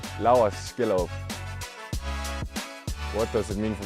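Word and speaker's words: Laurs Skjellerup: people and fans uh this is how I say my name L skill what does it mean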